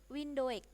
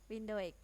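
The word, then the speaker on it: Windhoek: yang kedua namibia ibuotanya wind W windek begitu ya bacanya Ya windek yang ketiga itu botswana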